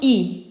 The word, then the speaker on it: y: Le pronom I. So the pronoun I in French, it's pronounced like an E.